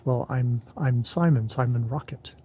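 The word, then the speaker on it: Rocque: i'm i'm simon simon rocket it's r o c u u c r o c q u u a e t but it's pronounced rocket and harriet goes giggles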